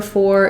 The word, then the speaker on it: four: Ur saying or so this number four is the same as this for f o r except that again when I'm using number four I never reduce the sound I'm always using an or dip Fong for oh this is